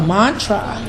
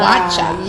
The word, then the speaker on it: matcha: and you found the Mantra am am I pronouncing it correctly is it the tea yes but it's called matcha matcha say correctly matcha yeah it's the best